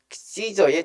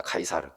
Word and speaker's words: Caesar: 그래서 영어 성경에는 A friend of Caesar 이렇게 해가지고 시저의 친구, 가이사가 바로 여러분 율리어스 시저 아시죠? 그 율리어스 시저가 초대 로마 황제입니다. 그래서 그 율리어스 시저의 그 헬라어 발음이 카이사르입니다. 카이사르. 영어로 시저라고 부르는 거고요.